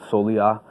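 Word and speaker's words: soleá: Um, it's uh it's based on there's a um like a Flamco standard called Solia, which is spelled S O L E A.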